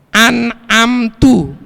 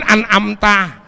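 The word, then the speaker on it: أنعمتَ: An'amtu, seharusnya kan an'amta, yang kau berikan nikmat tuh. Kemudian taknya diganti domah jadi mutakalim wahdah untuk diri sendiri, an'amtu, yang aku telah memberikan nikmat tuh.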